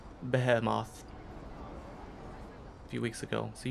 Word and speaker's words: Behemoth: And you said Behemoth a few weeks ago. So you can't even get English right. Behemoth is the best. No, it's Behemoth. Behemoth.